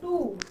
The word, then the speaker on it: two: Next हमारा silent W, TWO, टू। इसमें भी W का साउंड नहीं हो रहा।